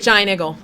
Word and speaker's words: Giant Eagle: week anyway they're there say it right giant igle yeah they're in the